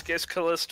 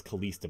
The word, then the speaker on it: Kalista: Well, I keep mispronouncing all the characters' names, but no, I thought this. Okay, so it's Kalista. Alright, I thought it was Kalista, but okay, so.